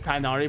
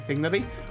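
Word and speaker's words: Tighnari: I believe the story says Tainari, but the technical correct pronunciation is Tignari.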